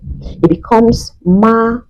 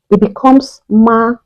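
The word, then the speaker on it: 妈: When we place the first tone on MA, on A precisely, it becomes ma, because the flat tone is pronounced me, me, me.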